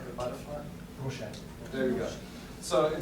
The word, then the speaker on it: Rorschach: How do you pronounce that? The test that looks like a butterfly? Rorschach.